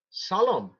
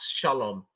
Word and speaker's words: salam: Yes, so the thing is, notice that the Hebrew letters are separate and it's pronounced salam, not shalom.